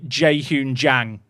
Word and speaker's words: Jae-hoon Jang: The thing is, the way you'd say his name is actually Jae-hoon Jang.